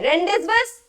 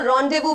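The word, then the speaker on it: rendezvous: सवाल पूछा अगला है इसको प्रोनाउंस कैसे करते हैं रेंज बस रेंज बस प्रोनाउंस करेंगे नहीं इसको रंड देवू प्रोनाउंस करेंगे ऑलराइट मतलब क्या है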